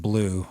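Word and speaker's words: Bleu: And I knew immediately I had to go to my friend Blue, which lives in LA, is from Boston area, but is spelled the French way, B-L-E-U.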